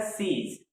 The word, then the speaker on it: seize: इसके बाद हमारे दो वर्ड हैं, इसका जो प्रोनाउंसिएशन होता है वो सेम ही होता है, सीज।